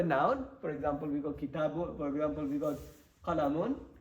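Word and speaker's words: كِتَابٌ: Kitab is how we're going to say, but remember what we said in the lesson. We're going to pronounce the bun bit correctly because we are learning at the moment. Once we becomes perfect, then we're not going to pronounce this anymore. Okay. But I want everyone to know the endings correctly.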